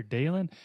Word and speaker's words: Dalyn: name and it's like is it or Dal and I'm like I just had to keep telling them it's dalan because if you don't